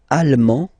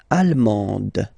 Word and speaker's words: allemand: L'Allemagne, allemand, allemande, okay, same thing here. Okay, you don't pronounce the final D, but then you pronounce it here for the feminine form.